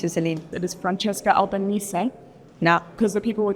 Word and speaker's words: Albanese: It is Francesca Albanese. No. Because the people were just wanting to know how to actually pronounce your name. It's Francesca. Francesca, sorry. No, you did great. Albanese. Albanese.